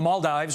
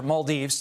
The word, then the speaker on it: Maldives: Meantime, NASA slamming China after that rocket debris landed near the Maldives, or Maldives, depending upon how you say it, for failing to meet responsible standards.